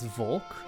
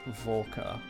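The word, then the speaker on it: Volke: come on okay so to be fair I've been pronouncing his name as Volk all this time but like I said I think I think the the the official way to say it now is volca find that for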